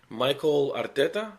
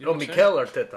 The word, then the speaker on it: Mikel Arteta: I don't know how to pronounce his name right. Michael Arteta, I guess. Mikel Arteta.